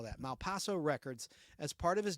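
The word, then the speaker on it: Malpaso: Brothers distributed imprint like his production company name Mal Paso records m p AO is how you spell that Mal Paso records as part of his deal with Warner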